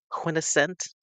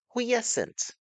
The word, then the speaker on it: quiescent: Quintessent. Do, do, do, do, do, do, do, do, do. Quintessent. Yeah. Oh. Mm, no, not. Maybe I'm saying it wrong. Q-U-I-E. A quiet, still, or inactive. Quiescent.